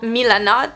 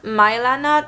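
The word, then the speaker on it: Milanote: found this app called milanot mylanna i don't know how you pronounce it i think it's milanat and it's a pretty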